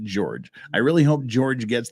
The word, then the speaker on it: Jorge: I really hope George I keep want to call him Jorge because it's spelled Jorge but they all pronounce it George I really hope George